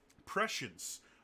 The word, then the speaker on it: prescience: fifth edition would be movement prescience which I only learned how to pronounce like a few months ago because one of my characters thought they were putting a point in presence and they did professions